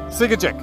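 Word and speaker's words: Tsiigehtchic: Can you please tell me, how do I pronounce the name of that town? Yeah. Sigajik.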